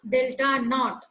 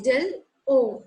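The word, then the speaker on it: Δo: You should not pronounce it as delta naught. It is del O, octahedral, or 10 dq.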